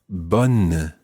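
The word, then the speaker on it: bonne: word for good and that is bun bun and that's spelled b o n n e as opposed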